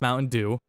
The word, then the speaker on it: Mowtendoo: It's spelled Mowtendoo. It's pronounced Mountain Dew.